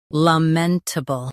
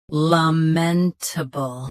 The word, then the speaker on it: lamentable: Lamentable. Both US and UK have the same pronunciation of this word. Stress men. Keep table soft and quick. Lamentable. Lamentable. Stress men. Keep table soft and quick.